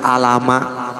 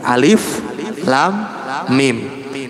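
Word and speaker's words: الم: adalah dibaca nama aslinya Nama aslinya seperti Alif Lam Mim enggak dibaca Alama tapi Alif Lam Mim Nah untuk lam dan mim dipanjangkan jadi 6 harokat sedangkan alifnya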